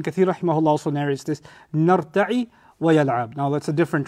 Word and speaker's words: نَرْتَعِ: But if you say نَرْتَعِ with a kasra, two things change. The ya is pronounced a noon now, and the end has a kasra.